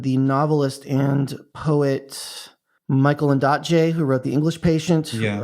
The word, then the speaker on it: Ondaatje: There's a great section in The Conversations, which is a collaboration between the novelist and poet Michael Ondaatje, who wrote The English Patient, which was just a weirdly very profound book for me.